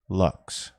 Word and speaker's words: LVX: they spell which is pronounced to rhyme with the word boots l v x luxe step 7 at the